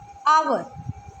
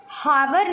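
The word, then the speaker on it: hour: Next आवर, हावर नहीं है ये, ओके, यहाँ पे भी H साइलेंट है, सो H is silent here, R एंड R।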